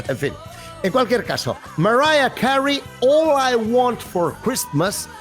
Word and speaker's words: Mariah Carey: Bueno, aquí decimos María Carey, decimos Mariah Carey, decimos... La pronunciación correcta de su nombre es Mariah Carey, ¿vale?